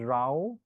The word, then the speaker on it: row: English and this is pronounced as ra like you know some people have last name r a o RA in India so